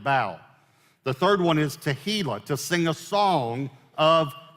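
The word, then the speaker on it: תהילה: the third one is tehila to sing a song of Thanksgiving now make sure you pronounce this one correctly it's not tequila which it might cause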